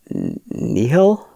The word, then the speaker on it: Nihil: It was Papa Nil, Papa Nihil, like a nihilist.